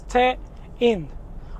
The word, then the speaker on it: TEIN: And it's pronounced Tein because it's technical innovation. That's what it stands for. So it's Tein.